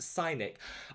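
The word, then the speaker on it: Scinic: ever tried the sunscreen from the korean brand cynic s-c-i-n-i-c no i've oh pronounced synic i love it how you put the pronunciation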